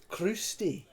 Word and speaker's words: Crusty: It's pronounced Crusty.